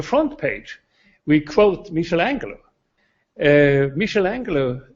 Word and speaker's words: Michelangelo: Michelangelo is the right pronunciation, sorry for that.